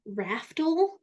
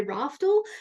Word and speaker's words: Raftl: I am here with the amazing Tracy Raftl, is how she told me to pronounce her name. And because in my Australian accent, I say Raftl, and she's like, that doesn't sound right.